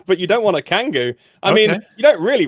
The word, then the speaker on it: Kangoo: This appears to be Mercedes' version of the Renault Kangoo. Am I pronouncing that right, Martin? Yeah, okay. Absolutely. Kangoo, okay, because we don't get that over here.